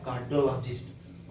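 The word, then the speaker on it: cardiologist: शब्द कार्डियोलॉजिस्ट बो रहे कार्डियोलॉजिस्ट आर को साइलेंट कर दे रहे क्यों स्लाइटली साइलेंट कर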